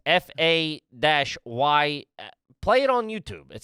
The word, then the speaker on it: Fage: We are looking at how to pronounce Who's this guy? Fay.